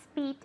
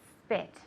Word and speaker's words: spit: Now be careful with this because it has a short I sound. It's not speet, it's spit.